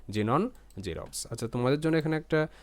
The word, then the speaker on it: Xerox: consonant থাকবে না মানে শুরুতে জাস্ট এক্স থাকবে সেক্ষেত্রে এরকম সাউন্ড হচ্ছে জেনন জেরক্স আচ্ছা তোমাদের জন্য এখানে